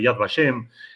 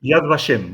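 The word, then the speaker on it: Yad Vashem: tenemos en Israel en Jerusalén el museo de yad bashem en donde está acreditado el bosque y el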